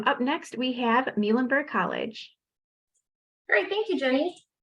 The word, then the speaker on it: Muhlenberg: We are the Mules of Muhlenberg College.